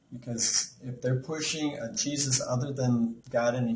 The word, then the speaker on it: Jesus: It's like it's spelled with two E's and a Z. It's Jesus. Listen to him. You'll catch it. The main thing is, as long as it's a Jesus of the Bible, that's what's important.